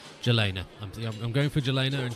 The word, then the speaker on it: Jelena: Oh, it's pronounced Jelena.